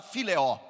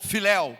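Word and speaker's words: φιλέω: E o amor que Pedro respondeu, ele não usou a mesma palavra, ele usou a palavra fileó ou filel, como outros pronunciam.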